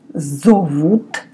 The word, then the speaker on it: зовут: In Russian, I say, меня зовут. Letter O. In the second word, zovut, I pronounce like A. Again, O is often sounds like A.